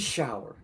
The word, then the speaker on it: Schauer: Shower like the shower. It is Schauer.